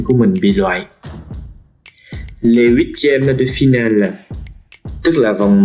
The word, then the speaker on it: huitièmes: Các bạn hãy chú ý cách phát âm chữ H trong chữ huitième là H aspiré. Chúng ta không được nói vần và phải đọc là les huitièmes de finale.